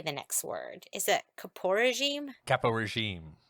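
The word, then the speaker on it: caporegime: Is it Capo regime? Capo regime. Kappa regime. Okay, Kappa regime.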